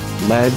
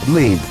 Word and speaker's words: Lead: go down like a lead balloon. The group dropped the A at the suggestion of their manager, Peter Grant, so that those unfamiliar with the term would not pronounce it lead.